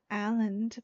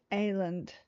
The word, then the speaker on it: Aland: This is not Aland, but Aland. Aland. AELAND music on SoundCloud.